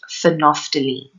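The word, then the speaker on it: phenolphthalein: blue color our third indicator is pronounced phonophthylene so naphthalene is a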